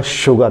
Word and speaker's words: sugar: इसका जो उच्चारण होगा शुगर, याद रखिएगा, शीटी वाला शा।